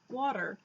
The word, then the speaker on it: water: say it so that it comes out sounding like a D but it's not we don't say water